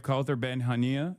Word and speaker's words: Kaouther Ben Hania: So that's the voice of Hind Rajab, and today we have Kaouther Ben Hania.